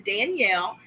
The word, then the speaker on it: Daniella: The A is silent, so it is Danielle.